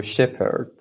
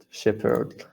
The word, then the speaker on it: Shepherd: the the f sound when the h is actually silent so my last name you just make the p sound but yeah yeah exactly yeah so shepherd shepherd like another one we